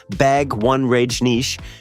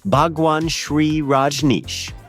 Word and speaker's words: Bhagwan Shree Rajneesh: And Carson, intentionally or otherwise, turned the man's name into a separate joke entirely by calling him something closer to Bagwan Rajneesh during a mid-1980s monologue, at which point band